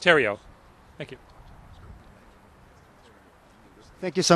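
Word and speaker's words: Theriault: out in this regard my last name is spelled t-h-e-r-i-a-u-l-t pronounced Terio thank you thank you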